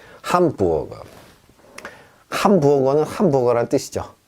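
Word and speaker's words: Hamburger: 함부어거. 함부어거. 함부어거는 함부어거란 뜻이죠. 자, 그런데 문제는 뭐냐? 우어. 이거 어디 갔습니까? 왜 우흐르가 아니라 우어가 됩니까?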